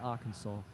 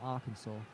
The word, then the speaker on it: Arkansas: There's, like we were mentioning this yesterday, and you know, I'm still angry at Arkansas. It's written Arkansas. In no one's right mind should someone pronounce that Arkansas.